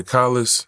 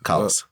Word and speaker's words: Collis: Did I pronounce that right? Yeah, Collis. Collis.